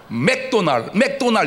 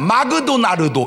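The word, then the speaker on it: McDonald's: 맥도날 이 발음이 마그도나르도 이렇게 해야 돼.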